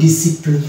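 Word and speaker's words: discipline: তাহলে এখানে হয়ে যাবে ডিসিপ্লিন, এখানে আমরা সি কে সাইলেন্ট মানে সি যে প্রনাউন্সিয়েশনটা বাদ হয়ে যাবে।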